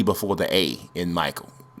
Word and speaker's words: Micheal: He's one of the Michaels with the E before the A in Michael. So it kind of looks like Micheal or Michelle, but it's Michael.